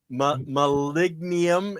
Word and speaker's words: molybdenum: Malignum, and it's a lot of people just call it Molly because they can't pronounce malignum.